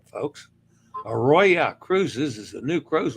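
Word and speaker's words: Aroya: who knows never can tell all right Ayo a royya gota say it right folks a Roya cruises is a new Cruise Line operated by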